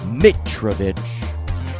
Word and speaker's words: Mitrovich: Today on Open Loops, we have a returning champion, George Mitrovich. I pronounce it correctly.